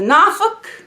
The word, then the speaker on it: Norfolk: and we drove to nauk um it's spelled Norfolk but that is not how it's pronounced just so you know it's nauk so we went to